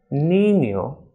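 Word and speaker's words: niño: s noche and Joe and with this tilde is pronounced as any as in Nino españa and Alvin ill so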